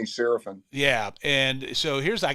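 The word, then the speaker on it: Seraphine: I mean in Chicago they pronounce it Saraphini but he just goes by Danny Sarapin.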